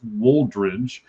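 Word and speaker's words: Woldridge: W O L D R I D G E. I'm want to make sure that that I pronounced that right. At least I think so. It's Waldridge.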